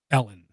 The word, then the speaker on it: Elon: answer that okay nano because South Africans pronounce it Ellen because it's Ellen okay that's what it is you can call them Elan all you want but that's kind of